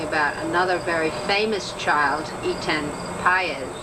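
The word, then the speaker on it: Etan Patz: another very famous child, Etan Paez, who is Pate, as some people pronounce it, whose parents have, as the Goshes have, spent endless hours searching for their lost son, and much pain.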